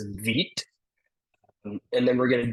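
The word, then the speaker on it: Vite: So, when we see npm create, uh, this word here, it's spelled vit, but it's vit and then we're going to do at five and there's a space here.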